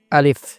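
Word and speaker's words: ألف: আলিফ কোন টান ছাড়া আলিফ।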